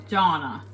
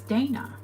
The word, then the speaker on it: Dana: Lucy says my name Donna and that's that's the British pronunciation of my name pronunciation of my name is Dana I always say canister